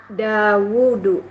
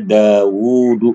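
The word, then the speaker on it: داود: juga bukan orang Arab dawudu dawudu Daud Daud Nabi Daud ini aslinya ada wwya ya Bu daudu ada wya tuh ada apa namanya dia dibaca panjang dia memang secara Lughah dibacanya daudu begitu Ya Nabi Daud Terus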